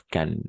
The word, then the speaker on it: Cannes: On prononce Cannes, simplement, Cannes.